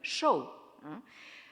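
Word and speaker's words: 寿: Et encore aujourd'hui, dans la prononciation moderne, shou, vous avez donc ce caractère.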